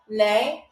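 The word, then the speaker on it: nee: So nay is pronounced nay but it's spelled ne e e e e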